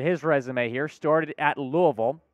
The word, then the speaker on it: Louisville: Taking a look at his resume here, started at Louisville. It is pronounced Louisville, by the way, not Louisville, as I've discovered.